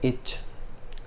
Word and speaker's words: itch: इसको इंग्लिश में कहते हैं इच। टी साइलेंट है यहाँ पे, ITCH ये स्पेलिंग है, जहाँ पे टी साइलेंट है हम इसको पढ़ते हैं इच।